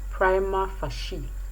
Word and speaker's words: prima facie: tanda lokostanda and the word p-r-i-m-a-f-a-c-i-e is prima facie prima facie and so finally the